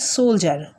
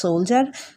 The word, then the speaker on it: soldier: এই সৈনিককে বলা হয় সোলজার। উচ্চারণ হবে সোলজার, যখন বানান লিখবো তখন দেখো অন্যরকম, SOL, সোল, DIER, ডার, সোলডিয়ার, কিন্তু এটা উচ্চারণ হবে কি? সোলজার।